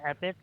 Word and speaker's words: Epebyc: so yeah I mean the way you pronounce it though is epic like EP i h